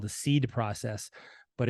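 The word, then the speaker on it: SEAD: called um that we developed it's called the seed process but it's spelled s-e-a-d exceed and it stands for strategic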